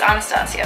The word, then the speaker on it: Anastasia: princess from Russia or if you think it's aa Nastasia which is how you pronounce the woman's godforsaken name oh this is a